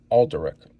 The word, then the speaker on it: Alderic: So now we have Sir Alderic, whose name, there's that extra A at the beginning, Alderic, that I always forget is there and I say it wrong.